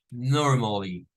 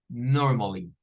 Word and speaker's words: normally: iría como esta miren nor nor normally no es Norma Es norma Norma con normally normally bien es Quizás lo